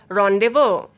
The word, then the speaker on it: rendezvous: Laissez-faire, rendezvous. Finally, letter Z will be silent in these words.